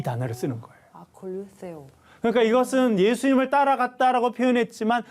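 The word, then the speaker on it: ἀκολουθέω: 이 따르다라고 하는 단어는 헬라어로 아콜류세오라고 하는 단어인데 아콜류세오. 쉽지는 않습니다. 아콜류세오. 그 어려운 뜨 발음이군요. 네, 세오 발음이 들어가 있습니다.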